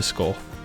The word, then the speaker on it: Scáth: So because the A in Scáth has what's called a fadder over it, which is a long accent, the A becomes an aw, turning Scáth into Scáth.